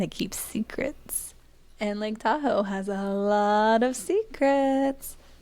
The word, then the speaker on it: Tahoe: Fun fact, Tahoe is the anglicized mispronunciation of the first two syllables of the native phrase. Yeah. So, they called it Da Ow, we say Tahoe.